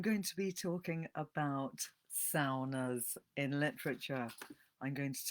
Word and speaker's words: sauna: I wonder if you're a sauna fan. Do you go and have saunas? I'm using the Finnish pronunciation, sauna. Um, in England, we say sauna, but I actually grew